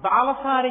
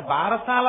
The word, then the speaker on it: బాలసారే: గబగబా తల ఏదో ఆ బాలసారి చేస్తుంటారు భారశాల కాదు బాలసారే బాలసారే అంటే బాలునకు ఇస్తున్న సారే కానుక దాన్ని భారశాల భారశాల భారశాల ఎంత భారమైనా ఎక్కించారు అసలు దాని ఉచ్చారణ బాలసారే బాలసారే యందు ఆ ప్రసవమైనటువంటి